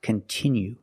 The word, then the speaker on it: continue: content that you like it's not pronounced continue it's pronounced continue we have to use a short sound I like this is we have the letter i which makes the sound I and it's a stress syllable continue we cannot change that sound we cannot say continue we have to use the is sound continue example if you continue